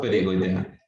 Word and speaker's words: pterigoidea: llama, la 4 se llama fosa pterigoidea. A ver, dilo. Fosa Eh, perigoidea. Fosa pterigoidea. La P, si quieres, no se pronuncia.